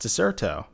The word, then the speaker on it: Dexerto: Oh, is that why it's pronounced Dexerto? Because Yes. it was a C before.